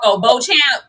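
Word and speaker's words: Beauchamp: Bo Champ. Listen, the people are in the in the comments like, "Oh, it's it's B. It's beach, not Bo Champ."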